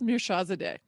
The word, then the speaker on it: Mirshahzadeh: I learned how to pronounce it. I'm so proud of myself. He schooled me a little bit. So Darius Mirshahzadeh.